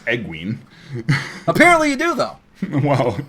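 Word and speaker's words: Egwene: my pronunciation you can't but you also say eggling when it's pronounced pronounced egg wain uh yeah well because i didn't need to look in the glossary to pronounce egween apparently you do though well yeah but so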